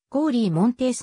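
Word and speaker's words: Cory Monteith: れていた発音はコーリーモンテースの方が近いカルガリ生まれ俳優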